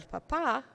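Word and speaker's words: papá: is the potato El Papa with an accent mark and a masculine article and a different pronunciation with a stress on the second syllable we know to be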